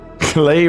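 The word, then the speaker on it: Klei: Clay rhymes with play.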